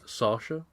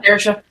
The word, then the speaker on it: Saoirse: Let's see if I can pronounce her name properly. Sasha. Saoirse. Yeah. Saoirse.